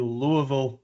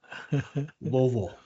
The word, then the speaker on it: Louisville: Well, not Ville, Vol. Oh, Vol. Sorry. Vol. Yeah, it's a big Anyway, deal. so you moved to Louisville, and Louisville.